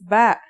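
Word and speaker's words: ب: in this lesson don't our first letter of this lesson is ba and yeah it makes a b sound you can remember this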